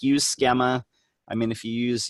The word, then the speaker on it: schema: You're a schema and a dreamer. It is actually a long E in schema.